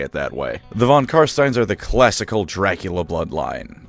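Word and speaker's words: von Carstein: Although, funnily enough, an old roleplay supplement mentions how it really pisses Manfred off when you pronounce it Karsten. So, in that singular instance, feel free to say it that way. The Von Karststeines are the classical Dracula bloodline.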